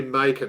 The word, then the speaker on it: Macon: We had Mark Macon. Yep. Mark Mason. We had, it's got to be Macon, right? As in bacon.